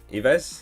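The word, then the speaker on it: Yves: table it is mr basuma um vesper zuma ives is how you say it zuma he's had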